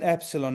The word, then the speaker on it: epsilon: E as in epsilon, now we're gonna have fun. It's pronounced as in meat.